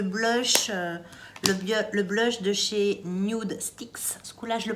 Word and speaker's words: Nudestix: Le blush de chez Nude Sticks, ce coup-là je le prononce encore une fois de la bonne façon, c'est le Tiger Lily Queen.